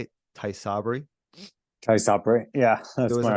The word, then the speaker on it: Tysabri: So, and that's how you say it, Tysabri?